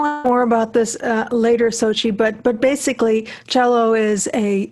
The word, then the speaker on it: Xochitl: Xochitl. The easiest way to pronounce, to remember how to pronounce it, is to think of the Olympics in Russia.